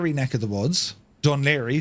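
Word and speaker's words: Dún Laoghaire: neck of the woods D lir that's how that's uh pronounced and uh we're going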